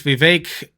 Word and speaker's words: Vivek: on a special guest known as Vivek, open quotation, rhymes with cake, close quotation, Ramaswamy, who I believe, has he dropped out officially?